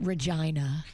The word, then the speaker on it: Regina: We'll have Virginia playing the role of Regina. JBird, you're going to be Jasmine and Denny's. You can be Andy. I pronounce it Regina. Regina. Okay. Regina. Kind of like your name.